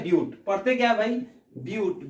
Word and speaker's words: but: पढ़ते क्या भाई, ब्यूट, BUTE, ब्यूट पढ़ते हैं लेकिन लिखते हैं बट, ठीक है। जानबूझ करके यहाँ पे गलती पढ़ना पड़ता है, ठीक है। इट मीन्स दैट कि बट तो लिख रहे हैं, प्रोनाउंसिएशन क्या है, ब्यूट का करेंगे।